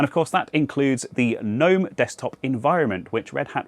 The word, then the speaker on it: GNOME: will point out that the developers of said project have said that they don't really mind which way you say it, both pronunciations are equally as valid so I'm not going to change the habit of a lifetime - it's GNOME. So let's dive in and